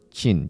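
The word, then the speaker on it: Qi: ada seorang perempuan bernama jin jadi tulisannya itu memang q i Tapi bacanya Jin Ibu Jin dia itu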